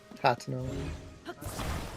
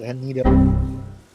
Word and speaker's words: Hateno: Also, you mispronounced Hateno. Am I You ooh. said Anito.